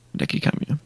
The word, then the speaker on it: Hideki Kamiya: How do you pronounce his name? Hideki Kamiya? Yes. Hideki Kamiya, yeah.